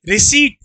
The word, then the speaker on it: receipt: देखो पी नहीं पढ़ते, रिसीट। मेरे साथ बोलो रिसीट। तो जो ये आती है, जैसे तुम कहीं से भी सामान लोगे तो इसे रिसिप्ट नहीं पढ़ते, रिसीट पढ़ते हैं।